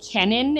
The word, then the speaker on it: Cennin: So, one of this is this is Kenan is how you pronounce it, but it's a potato leak soup pretty much.